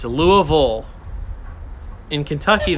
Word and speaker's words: Louisville: in Kentucky it's a Louisville in Kentucky there is no such thing as a bill it's all vole how'd everybody like that